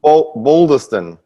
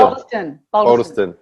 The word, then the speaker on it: Bolderston: Bolderston. No, not at all. Not at all, Barry. Boulder. Think boulder, like a boulder, like a rock. Boulder. Bolderston.